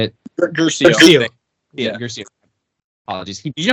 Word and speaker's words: Guercio: Also, too, fun fact about James William Garrico, or is that how you say it? Guercio.